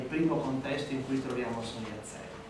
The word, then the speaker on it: Sun Yat-sen: Sotto trovate la pronuncia cantonese, da cui è derivata la nostra pronuncia internazionale Sun Yat-sen, e in alto trovate invece la pronuncia mandarina Sun Yixian, che non è proprio abituale in cinese.